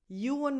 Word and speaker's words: Ewan: Ewan McGregor, Ewan, U as in you, a schwa, and then an N at the end.